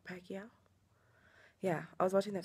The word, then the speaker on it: Pacquiao: Mayweather and Manny Pacquiao that's how you say his name right pakia yeah I was watching